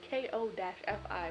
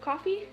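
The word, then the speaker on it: Ko-fi: start a coffee page yes it's coffee but it's spelled k-o-f-i which i always think is kofi but apparently it's caught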